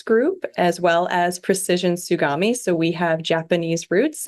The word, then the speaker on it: Tsugami: at and your role there yes it is pronounced sugami America and we are a Swiss CNC lathe style uh Machining equipment provider and we are part of the Morris group as well as Precision sugami so we have Japanese roots and also American